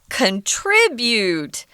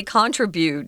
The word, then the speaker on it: contribute: notice that we're seeing contribute so the strong accent is on the second syllable if you're studying in england they say contribute just the opposite so contribute is american english and pronunciation so i'm gonna i'm